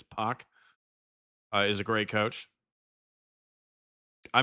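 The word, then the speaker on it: Poch: Because I don't think you say it like Potch, right? It's Puck.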